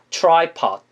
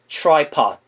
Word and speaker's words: tripod: 그거랑 비슷한 발음이 납니다. tripod. tr 발음이 있으니까 추의 느낌을 살리면서 tripod 해주시면 삼각대 이해하고 넘어가실 수가 있습니다.